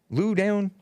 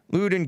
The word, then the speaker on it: Loudoun: and anti-black anti-human parents of loudoun loudoun county lou down county l-o-u-d-o-u-n you pronounce it for me lewden county prosecutors involved in the facebook plotting a